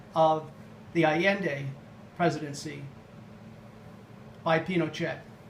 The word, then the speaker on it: Pinochet: the Allende presidency by Pinochet. You might hear Pinochet being pronounced Pinochet, very common in North America and Europe, but I will kind of try to stick to the Chilean pronunciation.